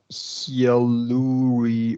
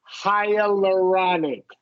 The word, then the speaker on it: hyaluronic: Hyaluronic or Yeah, okay, yeah, because you're probably never going to see this word. You're not in dermatology. So it's pronounced hyaluronic.